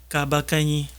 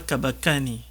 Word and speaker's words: Kabakani: à Éric et Patrick kabakani il faut bien prononcer votre nom c'est pas tabacane à vous aussi merci